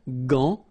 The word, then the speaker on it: gant: Remember, G-A goes like ga, okay? G. But in that case, you've got this A-N, so it's nasal, gant, and then final T is not pronounced here.